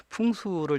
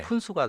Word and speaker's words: 풍수: 풍수를 잘못 발음하면요, 네. 푼수가 됩니다.